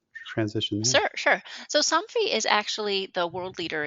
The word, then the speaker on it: Somfy: and then you ended up at is it Somfy? It Is that is. how it's Yeah, pronounced? Somfy.